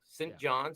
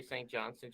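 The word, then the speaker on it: St. John's: back on the rock saint john's he said john's he doesn't say st johnson johnson yeah you got to say it right yeah so i haven't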